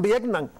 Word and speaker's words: Vietnam: ¿Por qué Vietnam no lleva acento en la A? Ah, porque termina en M. No, pues digan Vietnam.